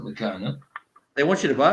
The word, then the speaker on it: Meccano: Oh, Meccano. Yeah. Yeah, like mechanic.